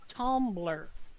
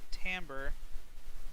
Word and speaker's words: tambour: bit different from you they pronounced it tumbler it's tambour it's a French word it's Tambor because of